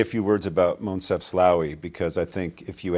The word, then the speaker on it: Moncef Slaoui: because some of them are not easy to pronounce. Moncef Slaoui, is that correct?